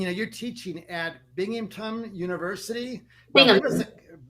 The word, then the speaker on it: Binghamton: Binghamton. Yeah, for some reason I can't even pronounce it. It's not that hard, but it's 3 syllables.